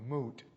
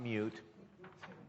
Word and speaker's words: moot: interfering in your process uses the word moot it's spelled m-o-o-t and it's not mute and it's defined as